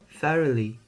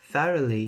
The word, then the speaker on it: thoroughly: sounds in this word first of course is the sound is a difficult sound to make because some languages don't have this sound the most common mistake